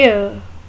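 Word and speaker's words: heir: Mostly लोग इस लफ्ज़ को हेयर बोलते हैं, पर ये हेयर नहीं है, ये एयर, एयर।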